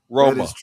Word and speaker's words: Roma: So, uh Italians in the US say Rome has one syllable. It it it Italy Rome has two syllables. Interesting. It's true. Roma.